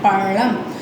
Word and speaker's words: பழம்: அடுத்து இது வந்து என்ன செய்யும், நாக்கு ஃபோல்டு பண்ணி பேக்கில் போய் சொன்னோம்னா இந்த ழ வந்துடும். பழம் அப்படி அந்த உச்சரிப்பு தான் பழம்.